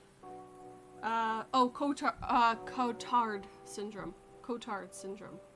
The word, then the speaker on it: Cotard: is kind of it's hard to bring like cottage syndrome i think it's how it's pronounced uh oh uh cotard syndrome cotard syndrome it's the name of the